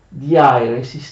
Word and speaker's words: diairesis: traslitterazione in caratteri latini, quando c'è un dittongo, esattamente come avviene in greco, nei caratteri greci, si usa inserire l'accento sul secondo elemento del dittongo, in questo caso sulla I, ma leggerlo sul primo. Quindi ai, io metto l'accento sulla I, però si legge sulla A.